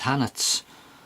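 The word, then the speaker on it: Hannants: the markings from and he said hannett's that's how you pronounce it so I ordered them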